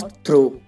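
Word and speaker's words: through: माने रात और ऐसी एग्जांपल है हाई और थ्रू इन दोनों में वर्ड के लास्ट में जी एच है यह साइलेंट है तो इसे हाई पढ़ेंगे और इसे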